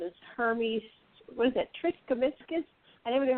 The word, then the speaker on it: Trismegistus: Triskemiscus? I never knew how to pronounce that. How do you pronounce that? Trismegistus.